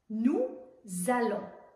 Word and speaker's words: nous allons: Elle on ne prononce pas le S à nous, mais on fait la liaison entre nous et allons. On prononce un Z. Nous allons.